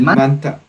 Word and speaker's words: manta: ¿Este se pronuncia como te mismo o como de? El manta. Ajá, sí, con la T mismo. Con la T mismo. Porque es como que esto va unido así, Guayaquil Manta. Cuando quieres decir de la ciudad de Manta, igual es Manta Manta. A este se lo pronuncia con la D también, ¿sí? Porque algunos dicen Guayaquil Manta, pero también puede decir Guayaquil Manda.